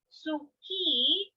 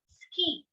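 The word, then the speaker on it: すき: again ski for life even though it is spelled as suki we pronounce it as ski making thus silent so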